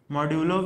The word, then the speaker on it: modulo: M-O-D-U-L-O-U-S. This is modulus, but we pronounce it modulo.